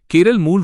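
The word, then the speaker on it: കേരളം: मलयालम भाषी लोग इसे हमेशा से केरलम ही कहते रहे हैं। केरल नाम अंग्रेजी उच्चारण के प्रभाव के कारण प्रचलित हुआ और संविधान में दर्ज हुआ।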